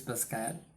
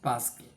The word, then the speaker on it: Pascal: as bla Pascal said in the French pronunciation it is Pascal but let's stick to the English pronunciation Pascal blaz Pascal the great